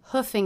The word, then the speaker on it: hoofing: somewhere for example I hoofed it to work because I overslept note that the double O here is pronounced as the uh vowel just like cook book and Brooklyn straight from the horse's